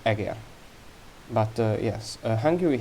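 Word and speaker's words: Eger: and eager castle uh it's pronounced diordur uh and aguer but uh yes uh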